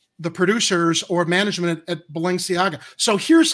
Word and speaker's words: Balenciaga: How do you pronounce that fashion company? I think it's Balenciaga. It's Balenciaga.